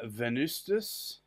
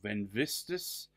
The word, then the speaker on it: Venvstas: narrow lighting nib so this is uh venustis or van vistus depending on how you want to pronounce it and it's Rosa canina